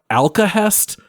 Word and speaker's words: Alkahest: an upcoming firstperson medieval fantasy action RPG called alcahest for those out there listening that's spelled a l k a h e s